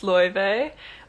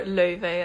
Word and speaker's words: Laufey: My name is pronounced Laufey, or Laufey in Icelandic, and it's a name from Norse mythology, mother of Loki or Loki.